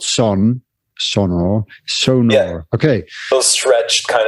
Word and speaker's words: Sonor: saying oh come on I have said sonar my entire life and I I I think it's wrong I mean I know it's wrong but what what do